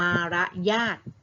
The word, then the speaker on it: มารยาท: เรียบ ร้อย นะ คะ Sony คำ นะ คะ เขียน มอ ม้า สระ อารอ เรือ มา ละ ญาติ หน้า ออก เสียง ว่า มารยาท เป็น คำ นาณ เช่น